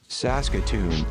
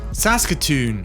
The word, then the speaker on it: Saskatoon: How do you pronounce it? Saskatoon. Saskatoon.